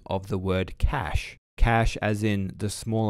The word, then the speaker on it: cache: that follows i forgot to use the international pronunciation of the word cash cash as in the small amount of high-speed